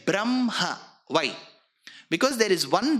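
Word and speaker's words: ब्रह्म: Same is the case with Brahma. You will write ha, half first, ma later. But you don't say Brahma. You say Brahma.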